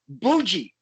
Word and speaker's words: Boujii: you never again will i ever say your name wrong ever uh it is boogie correct boogie fuji uh that'll never ever be uh